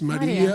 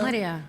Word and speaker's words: Maria: It's Maria. Maria. Maria. Like in Spanish, yeah.